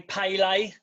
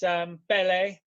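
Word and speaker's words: Pelé: It annoys me how Americans say Pele, because it's Bele.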